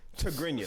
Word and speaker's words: Tigrinya: How do you pronounce it? Tigrinya.